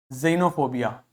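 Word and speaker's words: xenophobia: आ गई इसी प्रकार एक्स को आप जड की तरह से प्रोनाउंस करोगे यदि व एक्स किसी भी शब्द के बिगिनिंग में आता है जैसे जाइलम जाइलोफोन जेनोफोबिया जेनोफोबिया मतलब ऐसे लोगों से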